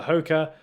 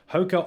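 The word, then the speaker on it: Hoka One One: thing but yeah and the Hoka Hoka on a on a is apparently how you Prancer but Hoecker one one is how it's spelt and yeah I think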